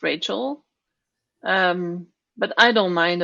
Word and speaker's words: Rachel: to pronounce the name in French it would be hashel in English I guess it's Rachel um but I don't